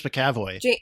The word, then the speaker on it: McAvoy: Oh, the young Professor X was James McAvoy. James McAvoy. McAvoy. McAvoy. What do you mean? Well, there's no A. It's spelled without an A.